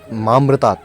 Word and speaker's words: मामृतात: पुष्टिवर्धनम उर्वारुकमेव बंधनान् मृत्योर्मुक्षीय मामृतात। लेकिन वो मामृतात की जगह ममृतात का उच्चारण कर रहा था।